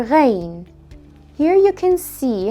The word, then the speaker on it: غين: to pronounce it correctly the Arabic letter Reign is pronounced re as the French are in order to pronounce